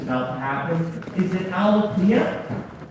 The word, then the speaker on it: Alethea: Is it Alethea? Alethea, there we go.